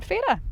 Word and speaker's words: Fara: But of course we're starting here on Fay-ra.